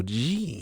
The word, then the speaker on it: Jin: We're bringing back Mugen Jean, which I still just want to call him Jin, but it's Jean, I guess is what we say.